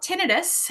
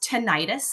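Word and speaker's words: tinnitus: and talk about tenidis so you tenus you may have also heard it pronounced tentis there's no right or wrong way and what is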